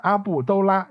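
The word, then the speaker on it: 阿布多拉: 布多拉，读音阿布都拉 U6。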